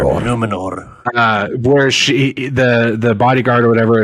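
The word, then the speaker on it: Númenor: Numenor. Yeah, that's how they say it. They always roll that R. Numenor.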